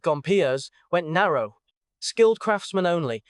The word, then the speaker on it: Gompers: Then, the American Federation of Labor under Samuel Gompers, say it like Gompers, went narrow.